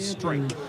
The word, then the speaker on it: Streak: It looks like it's streak, but they pronounce it strike. Strike. Yes. Gotcha. Like a quick strike.